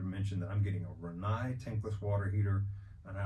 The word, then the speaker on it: Rinnai: And the Rinnai is spelled R-I-N-N-A-I. It looks like Rinnai, but it's Rinnai.